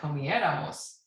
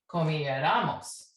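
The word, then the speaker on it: comiéramos: on right and we're going to need an accent on the e because you can hear it comieramos if there was no accent it'd be comiaramos we don't want that comier almost and then here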